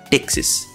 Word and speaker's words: Ptyxis: The P is silent here, though. We just call it Texas. Now, here's where things start to get interesting. Tixis doesn't just support containers, it embraces them like they're its favorite child.